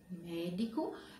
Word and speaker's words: médico: A palavra médico, médico é uma palavra pró-paroxítona, porque ela tem o acento também, ó. E a sílaba mais forte é mé, né?